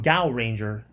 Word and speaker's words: Gaoranger: This is the memorial edition Gphone or from this is from Gow Ranger, but it's it's spelled G AO and the Ranger, you know, of course, how it's normally spelled.